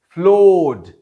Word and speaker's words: floored: फ्लोड, FLOORED, फ्लोड, फिर से हम इसमें आर की प्रोनाउंसिएशन नहीं पाते। क्यों? क्योंकि वावल लेटर तो आया है मगर उसका साउंड नहीं है, वावल साउंड नहीं है। आर के बाद जो सीधे सीधे साउंड आ रहा है वो दरअसल कॉन्सोनेंट साउंड है, लिहाजा फिर से आर नहीं पढ़ा जा रहा।